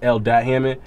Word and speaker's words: L.Hammond: Yeah, it's when we say dot because that's how you pronounce it. It's L.Hammond, but it's spelled L period Hammond, you know?